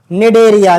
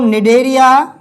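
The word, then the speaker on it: Cnidaria: बेटा कौन सा है निडरिया इसको क्या बोलते हैं निरिया या बोल सकते हैं नाई डेरिया एक ही बात है बेटा देखिए अब बता दिया आपको मैंने कि पहला संघ पोरिफेरा।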